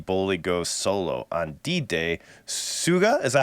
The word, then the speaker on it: Suga: solo on August sugar it's like uh it's like when when um system moved down a system of a man pronounces sugar yeah that's why I'm